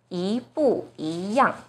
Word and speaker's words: 一不一样: So the first E itself should be the second tone, yi bu yi yang.